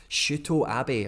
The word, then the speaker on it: Shuto Abe: It's like in Japanese names, it's all like 2 letters as a syllable, and they're all short. There's no like elongated like vowels or anything like that. So Abe, it would be Shu Uto Abe. Shu Uto Ut Sh Ut O Shuto Abe.